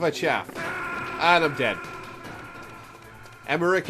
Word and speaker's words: Emmerich: chaff and i'm dead emmerich is pronounced with the heart c oh that is otakon